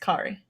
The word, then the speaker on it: Kari: By the way, it's pronounced Kari. Like the girl from I the messed it up. Incredible short. Okay, let me try again. Crazy Kari. Yeah, usually if it's with a K, it's Kari.